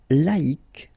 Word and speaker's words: laïque: Second example, laïque, laïque.